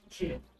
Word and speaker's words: GIF: It's pronounced Jib. Dot Jib, like the peanut butter.